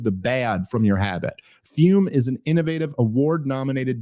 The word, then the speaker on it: Fum: about our longtime sponsor fume pronounced fume but it's spelled f m they look at a